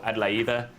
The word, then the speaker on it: Adelaide: To give you a bit of a background as to where I'm from, this is Adelaide, or Adelaide in Greek or German pronunciation, as I just found out.